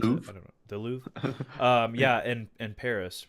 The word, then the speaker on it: Louvre: How do you pronounce it? I Louvre. don't know. The Louvre.